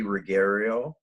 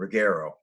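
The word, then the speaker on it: Ruggiero: three people on a really regular basis macy rigario which is are you yeah i said it wrong too didn't it rigaro r-u-g-g-i-e-r-o uh she's got a youtube channel she's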